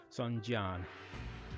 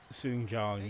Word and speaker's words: Sun Jian: Among these brave warriors gathered from across the land is the heroic and ambitious Sun Jian.